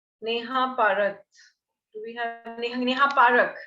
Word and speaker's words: Neha Parak: Do we have Neha Parak, right? So am I pronouncing your name correctly, Neha? Yes, Neha Parak it is.